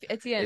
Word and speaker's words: Etienne: So it is Etienne. That is actually how you are pronouncing my name. Etienne.